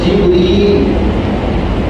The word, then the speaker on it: জিবরিল: যেরকম জিবরিল এই শব্দে আমরা বলি না সাধারণত, আমরা বলি জিবরাইল।